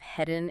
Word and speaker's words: heading: Did you notice the dropped G sound at the end of headen and coming? That's super common in informal American English.